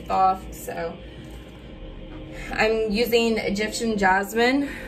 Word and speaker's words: Thoth: I'm mainly using this because energies that I will be working with is Thoth or Thoth, however you want to pronounce it. Some people say Thoth, some people say Thoth.